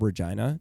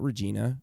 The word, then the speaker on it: Regina: The city we're from, it's called Regina, not Regina. It's pronounced Regina because that's the name the queen pronounced it and it's named after her.